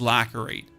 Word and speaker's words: lacerate: Pronounced lacerate with a C is pronounced as an S. Yeah, that makes no sense. Like, there's a C in there. It's lacerate.